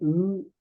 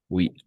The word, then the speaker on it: eux: C'est eux et elle. Oui, E. Oui, on va prononcer E. Oui, c'est un peu difficile. E, pas ou.